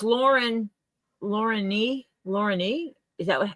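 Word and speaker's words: Lorne: knows I know a girl named Lauren that is spelled l o r n she was named after her grandfather Yeah so it's Lauren Lauren Lauren is that what yeah you're right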